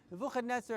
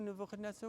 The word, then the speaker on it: Nebuchadnezzar: Nebuchadnezzar, as you know who Nebuchadnezzar was? How do you say it in English? Nebuchadnezzar. Yes. Yeah, Nebuchadnezzar, yes. Nebuchadnezzar. There you go. We got the Ashkenazic, the English, and the Sephardic pronunciation of the Shmo.